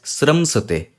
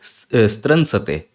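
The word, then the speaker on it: स्रंसते: Okay, before I go that, one important thing, this is pronounced as sramsate. Don't call it stransate, because a lot of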